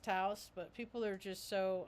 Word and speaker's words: Taos: it's not me they got they call it teos time and I understand it's pronounced Taos but people are just so I just think